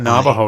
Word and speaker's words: Navajo: I guess English is a difficult language because I should have told you that, but you got Navajo right.